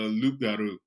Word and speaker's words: loup-garou: But originally, the pronunciation was Loup-garou with a L-O-U-P in the front of it, which translates to roughly to like man-wolf.